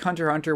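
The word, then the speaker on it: Hunter × Hunter: it like Hunter Hunter is it like Hunter Hunter where the x is silent supposed to say spy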